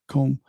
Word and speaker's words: Edgecombe: And then you got the rookie that stud in VJ Edgecombe. Is that how you say his name? Yep. Edgecombe?